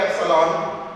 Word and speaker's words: epsilon: Epsilon naught, this is called epsilon, E-P-S-I-L-O-N, epsilon. Epsilon. It's a Greek alphabet and you must know how to pronounce it.